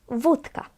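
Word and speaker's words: wódka: You now know already that this O with dash is pronounced as U. Vodka.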